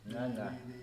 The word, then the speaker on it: Ngcangca: Ngcangca. Yes. Am I pronouncing your surname right? You're pronouncing it right. Ngcangca, that's a lot cool of people, surname. a lot of people can't pronounce it actually. Ngcangca.